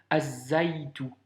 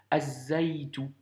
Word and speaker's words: az-zaytu: Donc par conséquent, ici, tu devras lire Azaïtou. Azaïtou. Tu vois, le alif lem s'écrit, mais par contre, dans la prononciation, on ne l'entend plus. Az-zaytu, car la lettre zay est une lettre solaire.